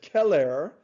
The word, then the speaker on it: Celer: an invader and then romulus's friend keller that's how you pronounce it c-e-l-e-r killed remus then he